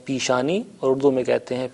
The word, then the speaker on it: پیشانی: لفظ رائج ہے، البتہ تلفظ تھوڑا سا مختلف ہو جاتا ہے. ہم فارسی میں کہتے ہیں پیشانی اور اردو میں کہتے ہیں پیشانی.